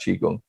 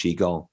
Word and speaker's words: qigong: a bit more about qigong brilliant i've just realized i've been saying it wrong as well i'm nice qigong not chi-gong look there's different pronunciations